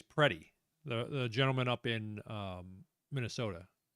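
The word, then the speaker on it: Pretti: Alex, I believe it's Preddy, the gentleman up in Minnesota. I hear people say Preddy, but it's spelled like pretty with an I. But I've heard people say it Preddy.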